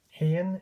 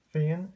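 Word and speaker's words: féin: Hain, as it's pronounced in the Ulster dialect, Donegal, but Fain elsewhere, Munster and Connacht dialects of Irish Gaelic.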